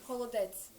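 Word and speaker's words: холодець: Oh, holodets. What do you pronounce it as? Holodets.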